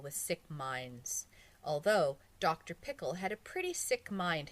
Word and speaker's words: Pickle: Actually, his name was Dr. Pickle, with the accent on the second syllable, but that wasn't why everyone called him Dr.